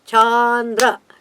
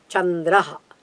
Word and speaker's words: Chandra: Because if you say Chandra, there is an elongation of the word cha. That is not in Sanskritam. Chandraha. It should be crisp and it should be clear. Chandraha. Chandraha. It's a palatal, so you have to move the palate a little bit back.